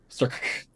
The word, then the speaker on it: Starck: So, it's crew Captain Miller, second in command Lieutenant Stark, which it's spelled very strangely. It's Starck. Oh. Stark.